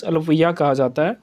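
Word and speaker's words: Alappuzha: अभी हाल ही में क्या हुआ, अल्पुया जो डिस्ट्रिक्ट है, अलपुजा लिखा जाता है लेकिन इसको प्रोनाउंस अल्पुया किया जाता है।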